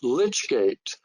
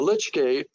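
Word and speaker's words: lych gate: And it shows in the foreground the church's lich gate, that's spelled L-Y-C-H, which was built in 1889.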